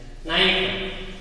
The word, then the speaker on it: knife: Knife, K is silent.